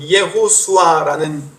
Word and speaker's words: 예호수아: 여호수아는 히브리어로 예호수아라는 발음인데 여호와는 구원이시다라는 뜻입니다.